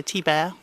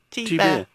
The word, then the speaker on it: Thibert: Just think like how you say camembert for the bear on the end, B-E-R-T. Right. Camembert, so Thibert. Well, And in French the H is silenced, T-H-I, as in T-H-I is silent. T-Bear. Yeah. Thibert.